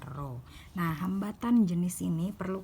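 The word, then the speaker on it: ρ: jenis Hai atau roh disimbolkan dengan ruang dibacanya roh nah hambatan jenis ini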